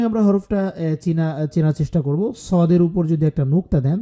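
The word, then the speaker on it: صاد: সদে সদে সদ এবং সিনের মধ্যে পার্থক্য হচ্ছে সিন চিকুন সদ মোটা সিন জবর সায় সদ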